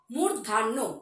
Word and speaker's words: মূর্ধন্য: শব্দ পড়েছিলাম তাহলে ঢ এর পরের বর্ণ মূর্ধান্য মূর্ধান্য অনেকে কিন্তু মূর্ধান্য বলে তার সঠিক উচ্চারণটি হলো মূর্ধান্য অনেক সময় আমরা মূর্ধান্য বলি